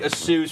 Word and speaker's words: ASUS: I did not even know how to pronounce that, actually. I thought you were talking about something else. No, That's how it's ASUS. It's ASUS. ASUS. It's ASUS. All right. I know. I always said ASUS.